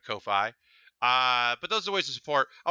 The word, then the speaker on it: Ko-fi: and this is my Kofi Kofi I don't know how to pronounce it but yeah you can buy me a coffee so it's probably coffee instead of KO phi but those voices before